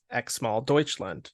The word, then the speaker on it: Xmal Deutschland: to say their name, but it's really simple. It's Xmal Deutschland. It is how it looks.